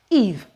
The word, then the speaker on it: Eve: Now, the rule, if you follow the rule, this is going to be pronounced as Eve, Eve, Eve, Eve.